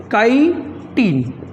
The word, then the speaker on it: chitin: काइटिन words पे pronunciation करना चाहूँगा, काइटिन।